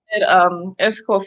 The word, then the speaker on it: Escoffier: was you went to X Kobe air am I saying it correctly is cool for year yeah Escoffier year culinary arts school I